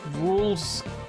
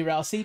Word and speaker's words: Rules: Nah, I bully you way too much to be Rousey. True. It's pronounced rules.